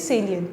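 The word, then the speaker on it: salient: Instead of साइलेंट उसको हम pronounce कैसे करते हैं, सेलिएंट।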